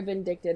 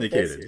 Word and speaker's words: vindicated: But I just feel very vindicted in the fact that no, he was a terrible Iron Fist. Vindicated. You just Did I say it wrong? Yeah. You sound vindictive, but you were vindicated.